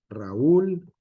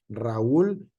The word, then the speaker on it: Raúl: Raúl no se puede pronunciar por sílabas toda junta, Raúl, sino Raúl. ¿Por qué? Porque el acento estamos acostumbrados nosotros, de acuerdo al español, en ul. En esa parte fuerte es la U, ¿vale?